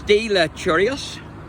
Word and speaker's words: de Lacherois: Parish Church, and I'm going to try and pronounce their name. It's de Lacherois.